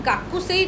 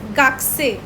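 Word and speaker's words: 学生: जो शी गाकू सेई गाकू सेही की प्रोनंसिएशन गाइस जो स्टूडेंट होता है उसको हम गाकू सेही नहीं बोलते हम लोग उसको बोलते हैं गगाक से ओके जभी भी आपको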